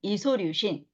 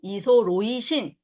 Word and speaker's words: 이소류신: 발린, 류신, 이소류신 또는 발린, 로이신, 이소로이신 발음하는 거에 따라 차이가 납니다.